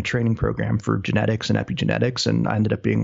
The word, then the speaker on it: epigenetics: All right, tell us about this word that I have trouble pronouncing. Epigenetics?